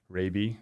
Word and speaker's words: Raabe: we were talking before getting my pronunciation my last name correct rabie oftentimes confused with uh many other uh pronunciations besides that so but happy to